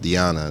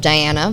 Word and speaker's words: Diana: If you saw her name on a piece of paper, you'd see it spelled Diana, but it is pronounced Dee-a-nah.